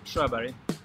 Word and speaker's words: Sjöberg: last name my my full name is and strawberry Strawberry yes oh perfect my research and is